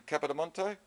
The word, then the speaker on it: Capodimonte: It's interesting that the spelling, the way it's spelt and the way that the R is silent in Capodimonte.